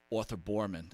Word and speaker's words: Arthur Boorman: But, if people haven't seen it, I'm sure they all have, when you were on a Shark Tank with Arthur Boorman, I think I'm pronouncing that right?